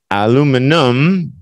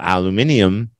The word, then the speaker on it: aluminum: Aluminum became preferred in the United States and Canada, while aluminium became favorite throughout the rest of the English-speaking world. Okay.